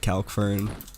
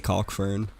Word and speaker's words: Calkfern: So you can, people pronounce it Calkfern. I say Calkfern. I'm not too picky on that.